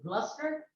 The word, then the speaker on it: Gloucester: some of the western companies of England particularly Gloucester uh even though it's spelled the gloss Fisher and uh known by